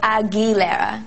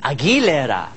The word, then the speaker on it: Aguilera: is it agilera um think of it as a gou e so agilera agilera yes oh good good very